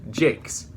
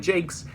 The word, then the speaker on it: Jacques: are learning about redwall this name that looks like the french name jacques pronounced jakes because brian jakes is from liverpool so redwall books were